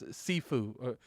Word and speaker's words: Sifu: Saifu, that's Sifu. Saifu or Sifu. Okay, Sifu.